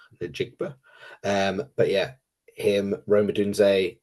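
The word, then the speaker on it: Njigba: But the likes of, you know, Jackson Smith, Najiba, I'd said that wrong, butchered that. Jigba. Najigba.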